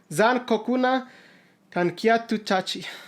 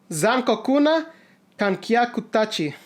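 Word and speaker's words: 残酷な観客達: That drama is called Zankokuna Kankyatu Tachi. Hopefully I butchered that. Zankokuna Kankyaku Tachi. There we go.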